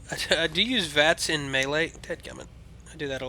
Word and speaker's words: melee: By the way, Melee. Okay? Not Melee. Or Malay, or... It's Melee.